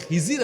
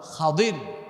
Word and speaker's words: খাদির: এবং খাদির আলাইহিমুস সালাম আমাদের দেশে অনেক লোকজন উনার নামটা ভুল উচ্চারণ করে বলে খিজির আলাইহিস সালাম কিন্তু উনার সঠিক এবং শুদ্ধ নামটা হল খাদির আলাইহিস সালাম উনাদের মধ্যকার এক চমক ঘটনা এসেছে।